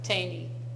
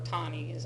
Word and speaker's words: Taney: Taney, or Taney, I think it's how it's actually pronounced.